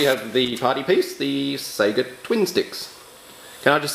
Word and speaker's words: Sega: really hard to say Sega I'm sure you've heard father Australian reviewers that the adverts for Sega products in Australia when we were growing up they always pronounced it as Seger so I constantly have